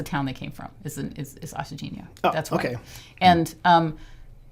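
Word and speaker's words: Achadinha: I'm like, oh, it's Agadina. So whatever the way you just said it, the second time. Ashadinha.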